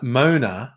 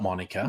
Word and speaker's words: Mona: uh Monica l i I was definitely pronouncing her name wrong Mo Mona not Monica Mona El elah harwi